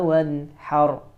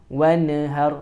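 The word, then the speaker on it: وانحر: Jangan wanhar. Ya, jangan seperti itu, tapi wanhar. Wanhar. Hanya juga harus yang keluar dari tengah tenggorokan.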